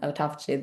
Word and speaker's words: autophagy: Many ways to pronounce autophagy, but I find autophagy the best way to pronounce it.